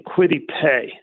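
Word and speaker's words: Kwity Paye: have him take they have the eagles taking quitty pay now am i pronouncing that correctly i think i am yep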